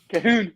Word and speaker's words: Cahoon: Cahoon.